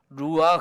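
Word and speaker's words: רוח: 거든요 한번 따라서 보시겠습니까 루와 그 그냥 흐 하지 말고 아 이렇게 가래침 했듯이 하는 그런 단어 그렇게 발음을 해야 되는 거야 한번 해보실까요 루와 가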